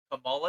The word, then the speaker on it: Kamala: upset their name is Kamala is it Kamala or camel caaa I think it's like peing and pean apparently it's